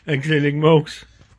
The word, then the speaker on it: Exeligmos: Exeligmos.